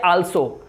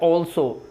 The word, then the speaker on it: also: Students ठीक नहीं करते, इसे बोलते हैं आल्सो। तो ये एक गलत प्रोनाउंसिएशन है, इसकी राइट प्रोनाउंसिएशन है ऑल्सो, ऑल्सो, राइट।